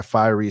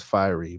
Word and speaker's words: Fieri: nice okay my guy fieri said you pronounce it as fiery but you good homie